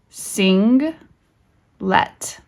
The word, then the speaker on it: singlet: Sing, let, singlet, which just is, I know it looks like a short E, but we pronounce it it's pronounced like a schwa vowel.